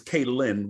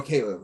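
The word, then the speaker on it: Kalen: Not to correct you, but it's Kaylin with an N, not B. Kaylin DeBoer. Oh, Caleb.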